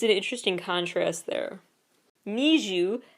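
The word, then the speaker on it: NiziU: an interesting contrast there Neu n i z i u meant to be pronounced kind of like a need you their fandom name is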